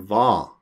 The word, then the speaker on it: hva: Notice, we don't pronounce the H sound in va, just the V sound.